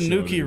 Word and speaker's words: Nuki: oh there's a reason there's a reason Nuki rhymes with dookie well nothing bad's gonna